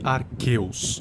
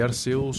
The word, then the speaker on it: Arceus: A propósito, eu sei que os nomes se pronunciam guiratina e arqueus, mas eu não tô nem aí. Para mim, geratina e Arceus são mais legal.